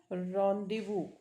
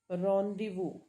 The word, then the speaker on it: rendezvous: This is run, days, वज according two spelling, but sound क्या है इसका? रॉन्डिवू. रॉन्डिवू, ये इसका साउंड है.